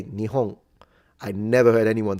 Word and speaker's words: Nihon: Nepon. Yeah, you know, nip as a pronunciation exists, but I've never heard it. I I haven't heard it once in Japan. They always say nihong.